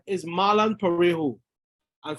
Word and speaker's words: Parejo: I said, my name is Marlon Parejo. And for those who can't pronounce it, it's Pa as in parboiled rice, Ray as in ray of sunshine, and Ho as in, well, and people began to laugh.